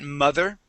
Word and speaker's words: mother: Um let's take a look at mother. Okay. Here you're very close on your on your th sound.